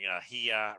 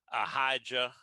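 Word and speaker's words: Ahijah: look at the hebrew there is no j in there and uh so i will be pronouncing ahia rather than a hija or whatever however somebody from texas would pronounce it but in the hebrew it's ahia and uh so he's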